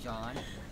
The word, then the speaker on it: Jean: is Sean It's spelled as Jean but it's pronounce as John and bilis I would